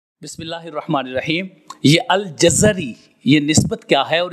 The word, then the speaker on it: الجزری: الانساب میں یہ فرمایا الجزری بفتح الجیم والزاء وکسر الراء۔ وہ فرماتے ہیں جیم اور زا کے فتح کے ساتھ اور را کے کسرہ کے ساتھ الجزری، اصل میں یہ تلفظ بنے گا الجزری۔ اور امام جلال الدین سیوطی رحمہ اللہ فرماتے ہیں الجزری بفتحتین، فرماتے ہیں کہ جزر یعنی